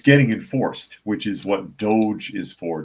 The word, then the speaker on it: DOGE: And it's getting enforced, which is what Doge is for. D-O-G-E, I guess, is pronounced Doge, not Dodge.